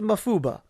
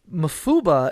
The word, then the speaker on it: Mafuba: seal or enclose and ba means wave it's the same kanji that's used in Kamehameha and dodona but because of Japanese semantics and weird language rules here it gets pronounced as ba instead of of ha or PA so that's fun cool